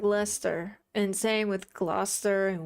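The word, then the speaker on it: Leicester: Yeah, like Lester.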